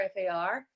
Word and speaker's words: far: uh so uh so with the word far far i do f a h if i'm spelling it phonetically f a h u r far far so i have the i in there and a little bit of r at the end so far away so